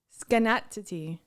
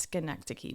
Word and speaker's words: Schenectady: it sounds like it's schenectady but it's not a scan it's connected it's connected say it again it's connected schenectady when you say it